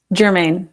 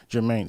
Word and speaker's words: Germain: Germain. Germain. See, I was kind of confused on that because I know a lot of Germains, but it has an E at the end. So I wasn't Yeah. knowing if it was Yeah. like Liz Germain. Germain Dupree. That's how you can remember it.